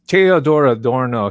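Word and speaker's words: Theodor Adorno: is so barbaric but theodore adorno i'll use the german pronunciation teodora dorno he was also the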